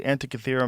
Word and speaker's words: Antikythera: Is the Antikythera mechanism?